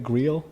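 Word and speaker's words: griot: information man can you say that word again Grio Grio g r i o t I think is how it's spelled yeah so just having access to to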